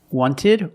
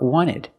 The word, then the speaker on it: wanted: Americans will say 20 wanted or wanted it's more common to hear Americans say wanted you have NT in the middle the t is silent other examples internet internet